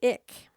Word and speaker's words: Ik: many ways that of our own society the ick and that's spelled ik are a small group of hunters